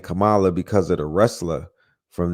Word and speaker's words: Kamala: say the name but I'm I stand corrected Kamala I was saying that spirit is saying that